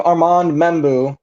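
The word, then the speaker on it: Armand Membou: Yeah, I like where your head is going with this pick here because I do have Armand Membu, that's how you say it, to the New York Jets.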